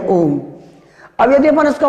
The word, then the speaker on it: ओम: लिखने की दृष्टि से गलत है और शुद्ध उच्चारण इसका यही है ओम।